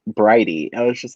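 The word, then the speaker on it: Bridie: notes and i was just like oh it's pronounced brighty i was just like okay because like when i was first like looking over and i was just like oh birdie divine what an interesting name i wonder if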